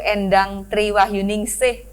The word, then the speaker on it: Endang Tri Wahyuningsih: alhamdulillah kita bertemu dengan Kepala Badan Pusat Statistik BPS Sumatera Selatan, Ibu Insinyur Endang Triwahyuningsih MM. Gitu ya bacanya ya.